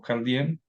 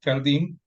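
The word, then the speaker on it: Carl Diem: del deporte que es cardim o carden lo se pronuncia más cardim eh Para los que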